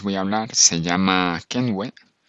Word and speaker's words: Kenvue: la que os voy a hablar se llama kenway y bueno se escribe con k k nvi y seguramente no